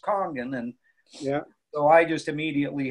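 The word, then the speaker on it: Kangen: It's spelled Kangan, but it's pronounced Kongan.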